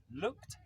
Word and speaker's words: looked: Looked back. Look back. Okay. Now, this word ends in ed, but the pronunciation is t.